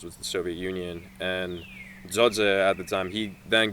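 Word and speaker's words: Xoxe: other guy's name Z it's it's Albanian like Albanian names like when you see like the alphabet it's it's the two it's X's actually so it's x o XE but you pronounce it Z so there yeah so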